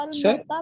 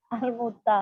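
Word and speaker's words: الموطأ: सर हमने तो सर अलमोता पढ़ा हुआ है। क्या पढ़ा हो? अलमोता, नहीं, अलमोता। अलमौता, बिल्कुल, अलमौता भी उसे मवाता और मौता उसी को कहा जाता है।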